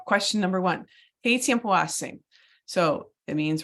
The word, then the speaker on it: hace: We're going to pronounce it without the H, but we're going to spell it with the H.